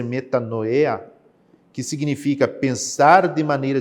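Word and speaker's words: μετάνοια: arrepender-se no grego bíblico Aqui nós temos uma pronúncia que deve ser metanoya que significa pensar de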